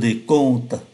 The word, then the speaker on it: décompte: Và chúng ta để ý phát âm ký tự M ở trong này cũng như ký tự M ở bên dưới là N, bởi vì đứng trước P và B.